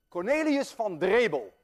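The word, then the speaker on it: Cornelis Drebbel: Cornelius van Drebel, and I know how to pronounce that name because I'm Dutch.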